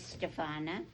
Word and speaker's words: Stefana: Hello, my name is Stefana. It rhymes with banana.